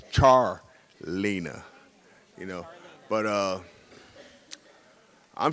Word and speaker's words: Charleena: here since Wednesday and every time I hear my daughter's name is not pronounced right just like my name is Charles her name is Char Lena yeah she we thought